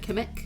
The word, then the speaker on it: Kamek: Kamek? Kamek, yep.